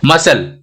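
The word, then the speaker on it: muscle: Scene, ये यहाँ पे भी देखो एस और सी दोनों कॉन्सोनेंट है, इसमें से एक कॉन्सोनेंट साइलेंट हो गया। मसल, यहाँ पे भी क्या हो गया?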